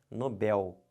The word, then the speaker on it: Nobel: não estão vendo porque se você falar Nobel você vai acabar fazendo isso aqui ó colocando acento porque porque paroxítonas terminadas em L leva um acento a gente vai ver isso em acentuação daqui a pouco próximas aulas mas perceberam se você fala errado você vai escrever errado você botar um acento onde não tem isso aqui está errado o certo não é Nobel o certo é Nobel aqui ó como é